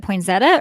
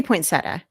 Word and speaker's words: poinsettia: say it is it poinzetta or poinsettia there's no z in there it's an seda or poinsettia i say poinsettia i say point i